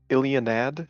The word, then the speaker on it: Ilianad: Is it Ilianad? Is that how you pronounce that? Yes, that is Yeah, correct.